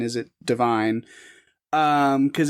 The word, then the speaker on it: Devine: And the AI thing is it is pronounced Devine with the long E's.